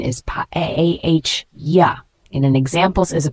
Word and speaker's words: paella: The pronunciation is paella.